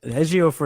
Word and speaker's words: Ejiofor: Ejiofor is definitely the right way, but his first name, I could be wrong.